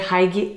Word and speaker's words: hygge: Hygge?